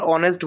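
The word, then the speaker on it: honest: একে কি হনেস্ট বলি না অনেস্ট বলি? স্যার অনেস্ট বলি, এর জন্য এন হবে। অনেস্ট, হ্যাঁ।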